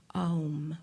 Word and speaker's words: Om: I invite you to say with me the sound of Om, but emphasizing the 3 syllables, condensing them into one sound.